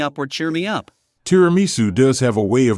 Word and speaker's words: tiramisu: The correct Italian pronunciation is tiramisu.